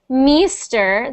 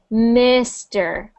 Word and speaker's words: Mister: So instead of Meester, that's that I sound again. Mister, Mister. Mr. Mister. Mr. Not Meester, Mister.